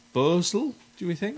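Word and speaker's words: Bhosle: Asha, and I might say this name wrong, Bosel, do we think? Bosel, yeah.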